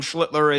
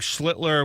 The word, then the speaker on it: Schlittler: Yeah, look, I think Schlittler without the L is the way to pronounce that name.